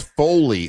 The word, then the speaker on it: Foley: Oh, that's Foley. Foley. Foley. Not fully. I thought he said Fully as well.